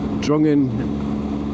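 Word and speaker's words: Drongan: And then from Patner, there's a little road I can cut off that takes me to Drungan. It's it's it's spelled drunken, but it's Drungan and Coyotton.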